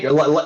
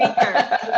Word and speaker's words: Hinker: Hinker, like thinker without the T. You're one of the first people to ever pronounce that correctly the first time. Thank you, Cheryl. That's Hinker.